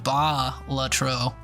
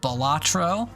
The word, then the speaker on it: Balatro: Rog like called batro you can pronounce it any way you want but apparently it's derived from a Latin word that's pronounced ba lro uh it's commonly called uh balatro or ba batro or whatever the hell uh the letter A in the English language is an enigma but welcome in we